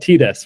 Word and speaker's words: Tires: I go with the Italian pronunciation. So it's called Tires, which is easy for me to remember because it's spelled Tires, like tires.